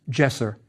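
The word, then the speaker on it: djeser: duel it means strength the hand holding the wand was pronounced jesser and means holy the hieroglyph after it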